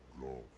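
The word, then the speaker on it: Gough: Now, watch, and see how Golf hunts dragon. Golf. I forgot he pronounces his name like that.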